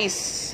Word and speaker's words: eyes: Yes. Yes. Ano ka? Ano ulit? E-Y-E-S. Yes. Yes. Yes. Isa pa. E, letter Y, letter E, letter S. Yes. alam niyo na yung answer? Hindi. Ice.